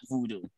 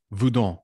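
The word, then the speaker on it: Vodou: It is not voodoo. Voudon. Yes, that is the correct pronunciation.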